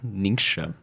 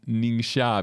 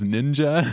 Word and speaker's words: Ningxia: Because sometimes Ningxia becomes ninja. Yeah. Which is actually a Japanese word.